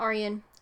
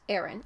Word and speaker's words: Arryn: commissioned him to kill Jon Arryn not Arion Aran I've been saying it wrong I'm sorry and Queenie